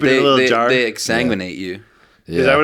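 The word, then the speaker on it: exsanguinate: They exanguinate you. Is that what it's called? Yeah. That's disgusting. That's an appropriately disgusting word for what that is. I don't know why. Exanguinate.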